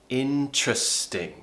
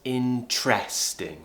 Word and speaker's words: interesting: people pronounce it as interesting with an air sound if you go on to Cambridge dictionary website you will see that it is pronounced with a schwa sound in trusting interesting interesting